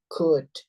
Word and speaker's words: could: Itu OLD itu kita baca UD aja gitu ya. SH dibaca sha. Should, would, could gitu.